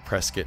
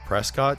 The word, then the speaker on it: Prescott: of prescott and yes i'm pronouncing it presskit now in the last video that i did i pronounced it prescott just because that's how